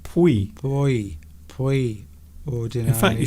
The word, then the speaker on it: puoi: That first word's quite difficult to pronounce. I think it's pui. I think it's actually pronounced pui.